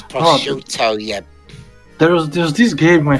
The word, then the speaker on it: prosciutto: do you pronounce that name too? Prosciutto.